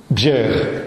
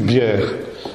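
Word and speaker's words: Bjerre: Bier, Martinus Bier. Bier, ça s'écrit B-J-E-2-R-E. Oui, ça se prononce I en danois, c'est du danois. Hein. C'est un J, mais ça se prononce I.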